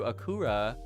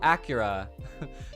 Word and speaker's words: Acura: Toomtim, you said FYI, 1, Akura is spelled with a C, and 2, it's from Honda. Oh, Acura. So it was named to suit Japanese tongue. Huh.